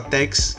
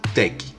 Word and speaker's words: TeX: tec de técnica dói ao invés de falar tex a gente pronuncia tec bom olá tec ele